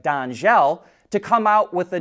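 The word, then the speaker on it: Dangel: with a French company whose name looks like dangle but I believe it's pronounced more like Danel to come out with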